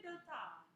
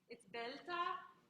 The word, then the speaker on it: beltà: Procacce beltà. Procacce beltà. Yeah, there's an accent on that one, so it's belta, but because of where